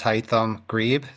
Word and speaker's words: Haittam Greib: My name is Heam Greb. It's pronounced like saying hi to your thumb.